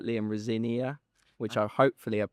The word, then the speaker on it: Rosenior: Um, firstly, how do you pronounce it? Rosenior.